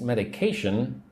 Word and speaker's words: medication: This medication should start working in 15 to 20 minutes. Say the word with me. Medication. Four syllables. Right. Medication. Put the emphasis on the third syllable.